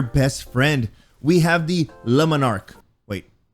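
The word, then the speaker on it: Le Monarque: can be your best friend we have the lemonark wait lemon arc trust me that's the way it's pronounced this is an exotic energy void combat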